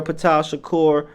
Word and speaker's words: Ptah Shakur: Ptah Shakur, that's how you spell it. Utah with a P, Shakur like Tupac.